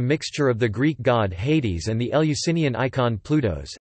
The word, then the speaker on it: Ἅιδης: Hades. Later the iota became silent, then a subscript marking, Hades and finally omitted entirely.